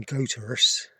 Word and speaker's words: Goathurst: It's spelled as in Goathurst, but the locals call it Goathurst.